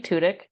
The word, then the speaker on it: Tudyk: Tudyk?